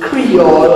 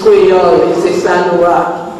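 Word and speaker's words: Kreyòl: it like that because i don't like to hear people call it creole and other things it's crayola although we often also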